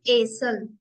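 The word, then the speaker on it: Esel: word लिखा है इसको प्रोनाउंस करें एसल नॉट ल एल एसल मीस डंकी अब आता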